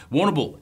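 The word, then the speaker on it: Warrnambool: Woonamble, as they pronounce it. Oh, Woonamble. Woonamble.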